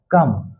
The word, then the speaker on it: come: सी के बगल में क्या है? ओ है ना, तो इसीलिए इसका उच्चारण सौ से नहीं होगा, इसका उच्चारण किससे होगा? क से। तो COME क्या हो गया? कम।